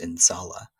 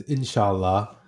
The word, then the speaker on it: inshallah: times in your book I believe it's pronounced in Salah um what does that word mean and why is that word so important to you yeah uh it's inshallah and um you know